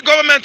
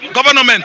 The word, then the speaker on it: government: When you see government, you pronounce it government. No. N is silent.